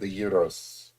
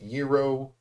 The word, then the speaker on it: gyro: this Greek person and they told me that it's pronounced gyro, but then you have to like roll the R, I think, which is tough. Like gyro. I'm probably still butchering it.